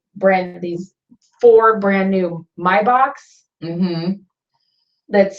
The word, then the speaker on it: Maybach: provided them with brand these four brand new my box that's spelled Maybach yeah Maybach and I looked them up they're like a